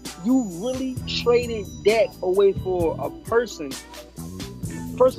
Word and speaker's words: Dak: Like, you really traded Dak away for a person. First of all, and also pronounce his name right. It's not Zach, it's Dak.